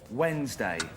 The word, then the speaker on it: Wednesday: Jill, why is there an N in Wednesday? It comes from uh the uh the old English. Um and it actually used to be Woden's day.